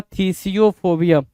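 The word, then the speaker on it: phthisiophobia: फिथसिफोबिया फिथसियोफोबिया या फिर थिसियोफोबिया या थीसियोफोबिया पीएच को साइलेंट मारेंगे थिसियोफोबिया बोलेंगे क्या बोलेंगे थिसियोफोबिया थीसियोफोबिया क्या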